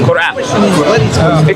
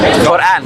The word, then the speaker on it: Quran: Quran. There is a Arabic letter that will be hard to say, which is qaf. Quran. It will be hard to say because you don't have it in English.